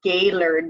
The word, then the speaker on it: Gaylord: all of my vacation time day lured its G a Y L o Rd but pronounced Gaylord so I can feel you already